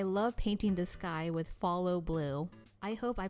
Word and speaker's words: Phthalo: I actually googled how to pronounce this color, and it's pronounced as follow blue. I love painting the sky with follow blue.